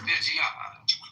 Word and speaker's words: Reggiano: Reggiano. You gotta say it like that. You said it too properly, man. Reggiano.